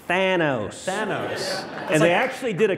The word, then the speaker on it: Thanos: And I talked about Thanos in Avengers Endgame, right.